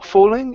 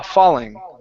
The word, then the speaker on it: falling: So with falling, make sure you open up your mouth. Instead of f fall fooling, it's ah falling.